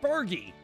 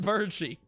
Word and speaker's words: Bergie: cut scene Bergie uh pronounced Bergie not birie Bergie uh made super